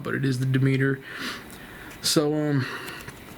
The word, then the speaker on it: Demeter: I didn't know if I was pronouncing that right or not, but it is the Demeter.